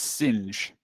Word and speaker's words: Singe: That Azora has made it clear it's just one syllable. It's Singe.